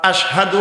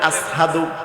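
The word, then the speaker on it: أشهد: কারণ বিলাল রাদিয়াল্লাহু তাআলা আনহু আশহাদু আল্লা ইলাহা ইল্লাল্লাহ বলতে পারতেন না। তিনি পড়তেন আসহাদু। কি পড়তেন? আরো জোরে বলেন। আশহাদু আল্লা ইলাহা ইল্লাল্লাহর পরিবর্তে বলতেন আসহাদু, অর্থাৎ শিনের জায়গা সা পড়তেন।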